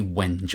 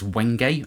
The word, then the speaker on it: wenge: this fretboard material is I always want to say wench I think it's wenge I said Rosewood type board